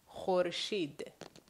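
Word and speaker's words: خورشید: So, if you look at the Farsi words here, here you have kh, u, re, sh, i, and de, khorshid.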